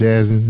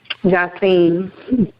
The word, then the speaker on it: Jassim: Now your paperback for Jassim, that's pronounced Jassim, is that correct? Jassim.